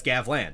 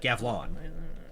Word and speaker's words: Gavlan: not Gavlan because that's Gavlan, not Gavlon.